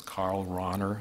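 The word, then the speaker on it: Karl Rahner: about Karana and I'm always told that I pronounce them wrong so it's Carl Rauner I know I apologize where's Bob there theological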